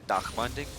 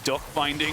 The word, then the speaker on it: Dark Binding: a dark binding see the funny thing is that we're actually mispronouncing that 100 of the time so for a lot of people they just think it's like we're saying duck binding and it's just like that's just how it is for us unfortunately so